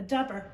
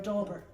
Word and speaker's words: dauber: what's it called a Dabber or a dauber everybody calls it Endeavor but I think it's adorable d-a-u-b-e-r yeah maybe the U is silent but they'd have two